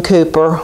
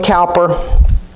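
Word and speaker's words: Cowper: to extend towards myself god saved william cooper or the british say cooper william calper but sadly his struggle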